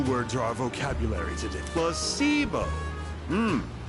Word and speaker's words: placebo: to our vocabulary today plus sio h the stress is on the middle C very good you're figing